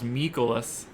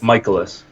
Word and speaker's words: Mikolas: Miles Mikolas. I sound really weird when I try to say it correctly. Going for St. Louis. Mikolas? I think it's Michaelis.